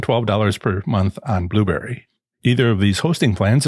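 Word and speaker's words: Blubrry: for liberated syndications and blueberry b-l-u-b-r-r-y no that's not a misspelling the company name sounds like blueberry but isn't spelled like my favorite fruit both E's are missing the monthly fee for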